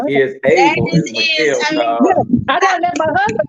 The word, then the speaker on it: Isabel: We've been listening to and learning from Isabel. Is that right? Or is able.